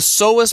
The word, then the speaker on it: psoas: comes to back pain so the seest muscle spelled with a p p s o a s is a muscle that